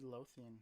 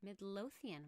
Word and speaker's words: Midlothian: from mid midlothian texas is that how you say it midlothian midlothian it's like medieval we will be at